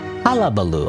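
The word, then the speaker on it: hullabaloo: Halabaloo.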